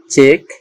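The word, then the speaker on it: chalk: প্রত্যেকটি শব্দের শেষে আমরা দেখতে পাচ্ছি কিউ ইউ ই ব্যবহার হয়েছে, এজন্য এর উচ্চারণ কয়ের মতো হচ্ছে, এজন্য উচ্চারণ হয়েছে চেক, ব্যারাক, কিলিক।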